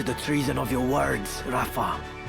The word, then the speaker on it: Rafa: Okay, I can I can get with that pronunciation. It's actually about the same as the original. You know, the way it was spelled with a F instead of a ph, you know, ph.